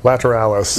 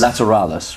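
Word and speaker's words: Lateralus: this new LP how do you say it lateralis is that right lateralis lateralis right okay so that's how it's pronounced before we talk about the the new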